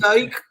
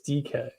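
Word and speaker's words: Dike: Is it DK? Yes. It's not DK. Dyke? It's DK.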